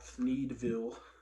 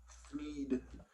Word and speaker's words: Thneedville: in a town called Thneedville. Thneed, Thneed. One of the very difficult thing to pronounce for most people.